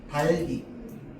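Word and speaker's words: 닭이: 이거 어떻게 발음해야 돼? 달기. 변동이 일어나면 안 된다 그랬잖아. 자, 그래서 변동이 일어나면 안 되는데 앞에 있는 자음은 어디서 발음? 앞 글자에서 발음. 뒤에 있는 자음은 어디서 발음? 뒷 글자에서 발음. 최종 발음은 달기 이렇게 되는 거죠.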